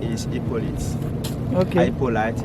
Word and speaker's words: Hippolyte: Hippolyte in English, Hippolyte for the French pronunciation.